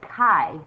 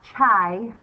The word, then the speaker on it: chi: and yes I said hi not chai it's hi it's a Greek pronunciation of a Greek letter so here's the symbol